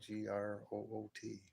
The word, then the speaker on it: Groot: sure of it Groot so it's like grw with a t Groot but it's spelled g